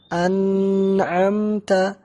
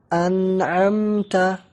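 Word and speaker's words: أنعمت: Cara membacanya tanpa tambahan di gunnah. Jadi bukan an'amta, tetapi an'amta.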